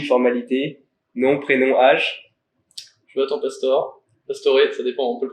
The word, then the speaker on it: Pastore: Enfin, du coup, voilà, c'est une question de nord ou sud, voilà, spécialement. Mais toi, tu le dirais comment? Moi, je dis Pastoré.